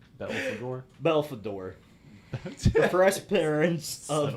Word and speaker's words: Belphegor: Belphegor. Belphegor.